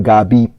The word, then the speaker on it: gabi: Hapon is also on the first A, but gabi, the word for evening, the stress is on the I.